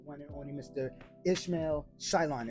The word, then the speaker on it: Shyllon: Ishmael Shyllon. Am I pronouncing that? Yeah, Shyllon, yes.